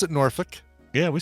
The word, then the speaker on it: Norfolk: Well, see, Norfolk. We pronounce it Norfolk.